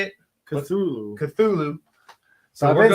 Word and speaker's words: Cthulhu: I mean, I've heard other people do the hard T where they say Cthulhu instead.